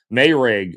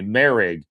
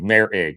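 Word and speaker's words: Moehrig: And Mayrig also, or excuse me, Merrig. We get his name wrong every time. Trayvon Merrig, the new safety, Mayor Ig, not Mayrig, Merrig.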